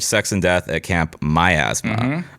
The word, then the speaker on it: Miasma: and Death at Camp My Asma. Um the asthma that belongs to me. My Asthma. That's how I remembered how to say it.